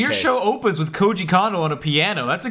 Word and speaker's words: Koji Kondo: Yeah, it's Koji Kondo.